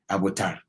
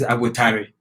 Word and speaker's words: Abotare: But if I pronounce it like the way you wrote it, Abotar is Infanti tree, Abotar. Oh. If you add the E to it, it's Abotare, meaning patience.